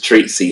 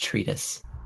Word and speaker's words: treatise: cuz I got evidence this treat C seems like a smoking gun the support is pronounced treatise whatever well the treatise